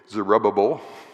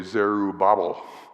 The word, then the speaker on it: Zerubbabel: There are those who love to say Zerubbabel, and there are those who love to say Zerubbabel. And one of them sounds like a kitchen sink cleaner, I know, but the thought here is that Zerubbabel means son of Babylon.